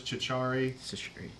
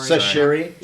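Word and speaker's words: Chachere: a guy named Douglas Chichari. Or how do you pronounce it? I'm sorry. Sashiri, like from the seasoning.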